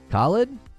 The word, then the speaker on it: Khalid: Isn't that how you pronounce it? Khalid? Am I emphasizing the wrong part of the word? I thought that's how Khalid was pronounced. Correct? Yeah, I'm saying it right.